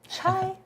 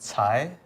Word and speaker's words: Tsai: It's pronounced Tsai, Okay. but it's tough. No one gets it right.